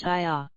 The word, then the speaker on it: Ea: Ea is pronounced Iya. I as in may, say, day, etc.